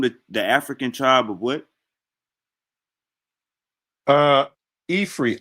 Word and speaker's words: Ifri: Ifri, IFRI is how they spell it. That's what And you she was asked Unc earlier. Is that where Africa come from? yes. Okay. I had said Afri, Yeah.